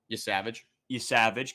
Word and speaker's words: Yesavage: Yesavage, good, okay.